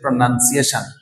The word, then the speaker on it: pronunciation: আসলে এখানে কোনো NO নাই, এটা হচ্ছে NUN, নান। তো এই ওয়ার্ডের ক্ষেত্রে আমরা প্রনাউন আর কখনো বলবো না, এটার সঠিক উচ্চারণ হচ্ছে প্রনাউন্সিয়েশন, প্রনাউন্সিয়েশন, প্রনাউন্সিয়েশন।